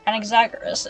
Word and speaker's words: Anaxagoras: Come, let us go and teach those pathetic words one That's not how you final pronounce lesson. it. Anaxagoras is how you pronounce it.